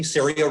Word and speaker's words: CERIA: CERIA rhymes with area, and we're here in Colorado in the United States.